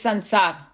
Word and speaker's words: Sansar: It's Sansar. The way it's spelled, that's why it looks like that.